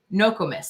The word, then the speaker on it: Nokomis: gonna do this so it's nokomis so i was saying it right okay great thank you she said the emphasis is on the no but let me tell